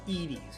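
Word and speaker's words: Edy's: Next up, looking for some positivity in this vanilla game, we got what I believe is pronounced as Edie's. I've heard Eddie's before, but I think this is pronounced Edie's.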